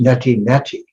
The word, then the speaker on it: neti neti: This mantra in the Vedic knowledge in Sanskrit is na iti, na iti. Sometimes pronounced neti neti.